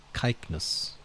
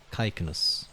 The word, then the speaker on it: Cycnus: Caicnus. I've been pronouncing, yeah, I think Caicnus is probably, yes, because ancient Greek didn't have a soft C sound. I think it only had the hard C. So Caicnus.